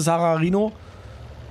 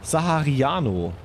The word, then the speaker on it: Sahariano: Da kommt der nächste Sacharino. Wird das so ausgesprochen? Sacharino? Sahariano? Sahariano? Oh, ich spreche ihn die ganze Zeit falsch aus. Asche auf mein Haupt. Sahariano.